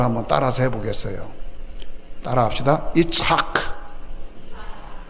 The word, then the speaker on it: 이삭: 이착. 할 때에 가래가 나올 것 같이 하는 거예요. 그래야 정확한 발음이에요.